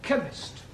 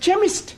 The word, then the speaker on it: chemist: Ali yes please spell chemist oh blame me k e n chemist does not begin with a k it sounds like it begins with k CH H but that is making it chemist no the CH is